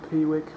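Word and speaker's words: Piwik: that is quick i actually know how to pronounce it pay I awake p wick quick so let's give this a go like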